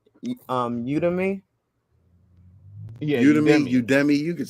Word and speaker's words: Udemy: And definitely he brought up, am I pronouncing this correct? Udemy. Yeah, Udemy, Udemy.